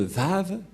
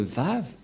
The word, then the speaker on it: Vav: de Yahushua, est vraie, que ça se prononce vraiment V.